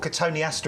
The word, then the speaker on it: Cotoneaster: There was a famous shrub called Cotoneaster, and I knew somebody used to call them Cotoneasters.